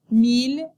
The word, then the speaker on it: mille: The letters ILL are pronounced il in the following words: ville, village, mille, and l'île.